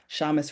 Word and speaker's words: Shamis: Shamis rhymes with promise, or Thomas if that helps, the founder and CEO of Pitts Leadership Consulting, or PLC for short.